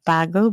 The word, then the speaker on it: Bagua: Bagua, Bagu map?